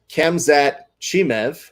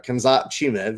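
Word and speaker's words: Khamzat Chimaev: on fight island before that's kemzat chimev or kamza chimev if you want to go ahead and say it like that but either way very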